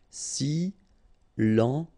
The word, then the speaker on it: silencieux: Silencieux, final X not pronounced, okay? This part here will be pronounced like cieux, okay? Then you get silencieux, silencieux.